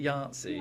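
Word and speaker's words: Yahtzee: Yatsi.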